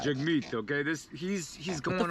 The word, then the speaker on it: Jagmeet: uh what's his name jaggy right jaguar jackie juggy jug meat are you mispronouncing his name on purpose how do you not know that jagmeet okay this he's he's